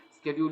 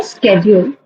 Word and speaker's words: schedule: I say schedule. Schedule. Schedule. Yeah. Schedule. No, it's S K schedule.